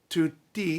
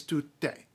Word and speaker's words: tutte: like that, fan, do, tutte. All of them, all, female, all. It's not men, it's female specifically because it's not tutti, it's tutte.